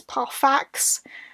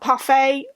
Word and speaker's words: Parfax: I listened to this on audiobook and it's pronounced Ferius Parfax, not parfait. I always thought it was like a silent X sort of business. It wasn't.